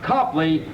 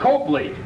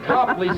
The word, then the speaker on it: Copley: ready to leave Copley Square pronounced Copley not Copley after all you wouldn't call a cop a cope would you so we say Copley Square now today you're going